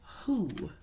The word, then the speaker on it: who: The W and the H are blended together and they make the H sound. But then the O, the single O, makes a double O sound, the oo.